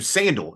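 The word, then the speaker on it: Sandahl: Sandal Bergman, who Sandal is how you say her name.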